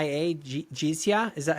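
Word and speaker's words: jizya: things like it's J I Z Y A Jiza is that how do you say that word the tax? Jiza Jiza.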